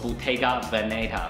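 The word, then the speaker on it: Bottega Veneta: 念的话，叫做 Bottega Veneta 或是 Veneta，看你的重音要放在哪边，基本上大家都是通的。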